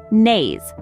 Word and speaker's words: Nase: Let's use it in a word, nase, which means nose.